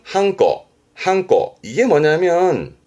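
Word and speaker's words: 判子: 일단 발음은 한꺼.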